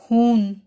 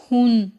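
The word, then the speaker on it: Hahn: अब यहाँ पे वर्ड हान में भी सेम हुन जैसी ही सिचुएशन है। सेकंड हा को साइलेंट कर दिया गया है और इसमें आ लॉन्ग प्रोनाउंस हुआ है, जैसे हान, और इसमें सेकंड हा जो है वो साइलेंट है, हान।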